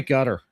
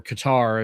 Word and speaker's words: Qatar: both her and Tucker and they're paid by Gutter. So, or Qatar if you're not uh familiar with the pronunciation, but yeah. No, they're paid by cutter and so of course they're going to be anti- uh anti-Jew.